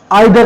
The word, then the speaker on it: either: हाँ, तो next preposition है आपका आइदर और। क्या? आइदर और। इसको ईदर और भी कहते हैं। इसका जो प्रोनाउंसिएशन है ना, ये ईदर और भी कहलाता है।